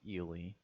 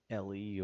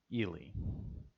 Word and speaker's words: Ely: on to samuel ely just a quick note on pronunciation i've heard it said eely however you know i i am aware that some people um prefer ellie or eli as far as i know the correct pronunciation of that surname is ely and we begin this